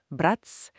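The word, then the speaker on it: брать: Mais si on ajoute le signe mou brat bratz, le thé devient mouillé. Et là c'est le verbe prendre.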